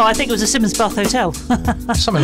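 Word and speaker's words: Simonsbath: you say that actually it's pronounced simmons bath but it's spelt simon's bath yeah all right okay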